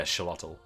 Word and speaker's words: Xolotl: Yeah, Xolotl. Alright, so we got Xolotl next.